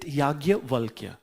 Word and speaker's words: Yajnavalkya: So I'm writing the spelling of the Yagyavalkya. We in Hindi we pronounce it Yagyavalkya. Then, but how we write Yajnavalkya?